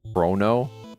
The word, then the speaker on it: Chrono: Corona trigger. What is What is it called? Is it not Corona trigger? Corona. Corona with lime trigger. Chrono.